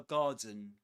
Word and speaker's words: garden: This starts, this word garden starts with the same vowel sound as in answer. Answer. Garden. Garden. Answer. Perfect.